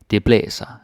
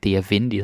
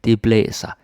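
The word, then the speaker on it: det blæser: it if it's windy people are going to say de blessa and they're not gonna say the place and they might but it's rare like dear vindy that's no no no the blesser that is how you say it wendy we use the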